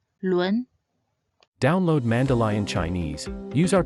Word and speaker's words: 轮: Lastly, this character is read as 轮. 轮 means wheel. Its pinyin is spelled 了温轮 and it should be said in the second tone. 轮轮.